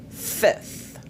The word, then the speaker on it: fifth: Beaucoup de francophones ont des difficultés à prononcer cette consonne. Aujourd'hui, je voudrais que ça s'arrête pour toi. Dis avec moi. Third, fourth. Fourth, fifth.